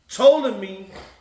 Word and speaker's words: Ptolemy: Ptolemy, the P is silent, ruled in Egypt and southern Syria, including Palestine.